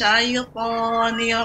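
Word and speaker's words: الشيطان: Nah, sya-nya lebih tafasnya lebih banyak, namun shin rahang bawah ya sudah bagus, rahang bawah diturunkan. Sya ya, jadi bukan dimonyongkan sya ya, namun rahang bawah turunkan. Artinya dibuka sedikit ya, dibuka diturunkan sya.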